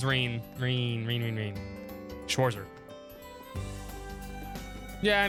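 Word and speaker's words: Rean: Nope. It's rain.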